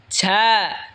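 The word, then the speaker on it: ز: ঝা জিহ্বার আগা সামনের নিচের দুই দাঁতের আগার দিকে লাগায় উচ্চারণ হবে ঝা।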